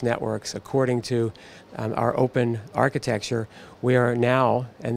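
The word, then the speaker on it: OPn: for exponential scale but you say it you pronounce it open because it is a programmable open platform that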